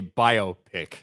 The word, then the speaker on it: biopic: Oh, Roscoe for $1 says, is it pronounced biopic or biopic? I say biopic. I say biopic. It's a biographical picture. You know what I mean? That's how I say it.